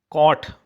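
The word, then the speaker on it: caught: लिखो मोर ठीक है कॉट कॉट में भी जी कॉट माने भी जी एच साइलेंट है कॉट माने पकड़ा कैच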